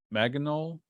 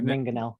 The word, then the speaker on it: Mangonel: how to pronounce this, Maginot. Yeah, I figured that's what a Maginol. Yeah. Mangonel. It's called Mangonel.